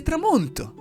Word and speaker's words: tramonto: Si dice tramonto. Si scrive T-R-A-M-O-N-T-O.